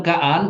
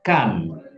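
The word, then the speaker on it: כאן: kaan beve hver ken bukan bacanya bukan kaan tapi kan kan kan ya bukan bukan kaan kan kan Bit hver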